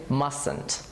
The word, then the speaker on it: mustn't: u Sdn apostrophe T but be careful with T it mustn't be pronounced we say mustn't write please have a